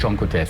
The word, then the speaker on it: Oncotest: Is this the Oncotest? Is that what I'm pronouncing it correctly? It's a SAGE Oncotest.